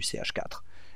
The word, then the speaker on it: CH4: En général, le 1, on ne le prononce pas, donc on dit c'est du CH4, et c'est la molécule de méthane.